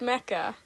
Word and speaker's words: mecha: a that Isa yeah but it's pronounced Mecca well I said mea